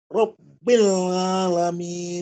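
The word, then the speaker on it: رب العالمين: Rabbil Alamin. Nah, seperti itu, Pak. Ditekan dulu, Pak. Jadi Iya. seolah-olah ada tasdid loh, Pak. Seolah-olah ya, bukan kita menempatkan tasdid, bukan. Tapi seolah-olah dia ada tasdid.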